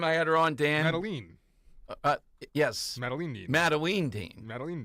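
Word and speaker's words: Madeleine: you on the name so it is Maline is that correct have we been saying it wrong time yes I still say mateline I don't know why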